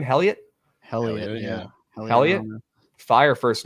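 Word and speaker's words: Heliot: Helliot, yeah.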